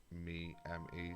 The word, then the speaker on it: Me: to windows me and it is actually pronounced me me that's how microsoft wanted it to be pronounced so um like i